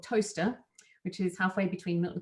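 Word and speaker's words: Towcester: I was 11 and she lived in toaster and everytime I wrote it I thought the word was tau sister because that's how it's spelt so I thought I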